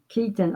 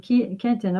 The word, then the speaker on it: Keaton: It's Keaton, not Kenton. Keaton. Oh well, he was saying Kenton earlier.